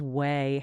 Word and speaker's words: OUAI: pronounced Way.